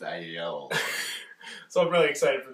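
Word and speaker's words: IELLO: So I believe it's pronounced I-Yellow.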